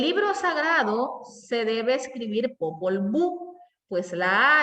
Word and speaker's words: Popol Vuh: H final indica que el nombre del libro termina con un sonido semejante al de nuestra J. O sea que al leer esto, yo puedo entender, aquí me está dando información en cuanto a pronunciación de la H final. Entonces podría o tendría que decir Popol Vuh.